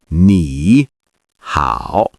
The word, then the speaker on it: 你好: 你好. Perfect. Notice the tones. The first syllable rises slightly, and the second dips and then rises.